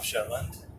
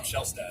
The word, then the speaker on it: Shellstad: And he said there's a guy from my community, Ashland, Tom Shetland, who did not know at that point. Tom Shellstad. Shellstad.